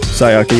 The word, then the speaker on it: Sayaka: Someone used Junko's or Sayaka. Is that how you say her name? Sayaka, yeah.